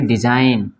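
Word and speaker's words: design: ना जब एन के पहले जी आए तो साइलेंट होता है ठीक है इसको पढ़ेंगे डिज़ाइन जी नहीं पढ़ेंगे इसको डिज़ाइन ठीक है ना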